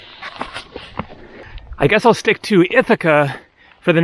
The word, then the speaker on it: Ithaca: online looking for things to see here on itaki also called ithaka ithaca as in ithaca new york named after this island i guess i'll stick to ithaca for the name of the island because that